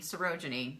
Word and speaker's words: Sarojini: Yeah, it's me, Sarojini. That's how you say my name.